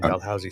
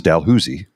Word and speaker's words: Dalhousie: This is Dalhousie, not Dalhousie. Yes. Because it's Ottawa. Yes. And that's because Lower Town is like very francophone. Yes. So it's the Dalhousie pronounced by the francophones is Dalhousie. Dalhousie. Yeah. Dalhousie. And it's stuck. And then the always been Anglophones then re-anglicize that as Dalhousie.